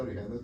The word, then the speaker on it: Orígenes: Orígenes, se pronuncia Orígenes porque no es Origins en inglés, sino el nombre de él en griego.